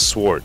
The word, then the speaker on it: Swart: My name always gets messed up, but it's Swart, like Wart with an S.